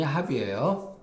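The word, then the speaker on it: 盍: 자, 안영과 계로가 선생님을 모시고 있는 상태에서 모시고 있으려니, 공자가 말하기를 이 합이라고 하는 것은 발음이 합이에요.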